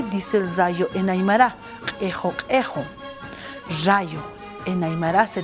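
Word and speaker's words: qhixu: Obviamente en la escritura está así, pero se dice ejo, ejo, porque en la escritura no hay e.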